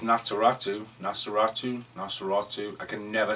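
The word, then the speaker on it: Nosferatu: random as yesterday when I was dressed as nasus no just no yeah like that can never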